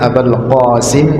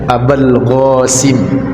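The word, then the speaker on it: أبا القاسم: ilahaillallah WA Ashadu anna abal qasim Rasulullah pakai Q nah kalau mengucapkan Q dia tidak mampu tidak bisa maka diucapkan dengan abal Gasim abal Gasim Rasulullah Ashadu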